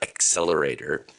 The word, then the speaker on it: Xlerator: And that is the XL Dryer Accelerator. That's spelled XLERATOR.